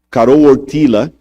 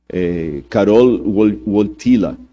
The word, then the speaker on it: Karol Wojtyła: E o Karol Wojtyła, esses dias eu pedi a alguém que fala polonês para me corrigir a pronúncia. Karol Wojtyła, que era o nome